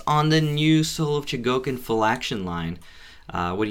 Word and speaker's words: Chogokin: There is my review of the Super Robot Chogokin. Been trying to say Chogokin more. That's the proper way to say it. Chogokin I've been saying forever, but Chogokin I've been saying forever.